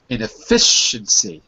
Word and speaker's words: inefficiency: Inefficiency with the stress on the fi.